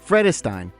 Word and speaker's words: Vredestein: Vredestein. Pronounced Vredestein, Dutch brand gaining serious ground in North America.